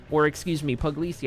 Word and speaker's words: Puglisi: the 35 starts 25th, Chris Puglisi, Puglisi I think is the correct pronunciation there for you, Chris, in 26th, Jackson